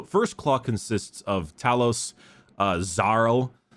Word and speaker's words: Xarl: Yeah, when they pronounced it, I could have sworn it was Sarl, like Tsarl, with the way he pronounced it. But yeah, it's. I thought it was Zarl at first, like a pretty classic Zarl, but no.